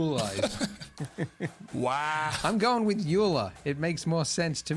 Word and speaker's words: Euler: all right cool man Oiler is how we're supposed to pronounce your name but you're dead so you alive wow I'm going with Eula it makes more sense